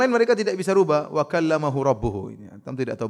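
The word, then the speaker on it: وَكَلَّمَ اللَّهُ: berbicara dengan Nabi Musa itu cara bacanya Allahnya ditombak wakalamallahu sehingga maknanya Allah yang subject Musa yang objek Musa Alaihissalam kata mereka harusnya dibaca bakal lam allaha Allah objek Musa ngomong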